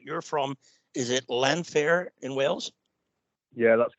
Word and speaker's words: Llanfair: And one thing I did notice that, and I want to make sure I pronounce this right. You're from, is it Llanfair in Wales?